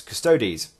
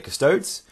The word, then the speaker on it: Custodes: you pronounce this it's some people say curse toads some people stay custody's and so we will say custards okay so I'll try I'm gonna go with custodes that to me sounds